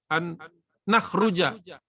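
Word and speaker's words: أن نخرج: Falaisa yanbaghi lana an nukharriju an ini apa yang bacanya yang benar? An nakhruja ya.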